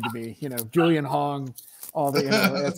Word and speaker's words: Hong: Is it pronounced Wong? Hong. You know, don't ask me why I saw a W there. Okay.